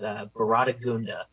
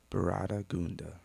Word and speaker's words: Baratagunda: Like, how do you say his name? And Colin Payne, my coach, says Baratagunda. Baratagunda. All right.